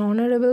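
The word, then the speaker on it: honorable: An hour, এখানেও কিন্তু এইচের উচ্চারণটা সাইলেন্ট। সেরকমই দেখো an hair, an অনারেবল person, an অনারারি post.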